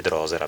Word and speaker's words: drosera: stato abituato così, poi ho scoperto che si dice drosera, però abbiate pazienza, la